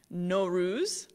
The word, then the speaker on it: Nowruz: such as easter so nowruz pronounced no rus which literally means new